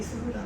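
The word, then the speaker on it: 君影草: 君影草と書いてスブランと読むぜっていう作品。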